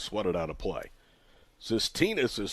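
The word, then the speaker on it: Tsistinas: stay up and it's SED out of play cytinus is spelled t s i s t i n a s but pronounced cytinus home Runner goes the pitches lined at the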